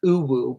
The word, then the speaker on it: UwU: Okay, it's pronounced Uwu, but like, where does it come from?